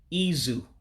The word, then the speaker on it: izu: see in english so the i makes an e sound and the u makes an u sound so it would be izu for weak again izu